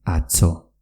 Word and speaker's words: atzo: Y ayer se dice atzo, con una TZ.